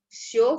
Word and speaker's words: всё: Nah, kadang juga ada yang pakai всё в порядке. Nah, di sini sebenarnya ini kan huruf yo, tapi titik duanya tidak ditulis ya. Cuman ini sebenarnya huruf yo. Всё в порядке.